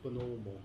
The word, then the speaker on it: Bonomo: It actually comes from northern Italy, and so the actual pronunciation's Bonomo, but Bonomo's fine.